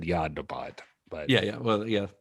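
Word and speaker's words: Jan de Bont: deont yeah so remember yand deant he's a fellow I probably should have said yand debond but yeah yeah well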